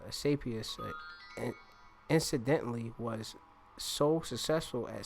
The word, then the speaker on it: Asclepius: And it says Asclepius incidentally was so successful at saving lives that